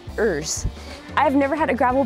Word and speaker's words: URS: gravel bike it's a bmc erz urs pronounced ers i've never had a